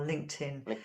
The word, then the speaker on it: LinkedIn: us for sure our linkedin facebook and twitter so did you hear yeah so pronunciation basically it's going to be like this link 10 linkedin link 10 linkedin linkedin you say link and tan linkedin link that's just